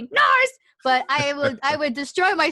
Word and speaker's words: Narz: Phonetically it's supposed to be Narz, but I would destroy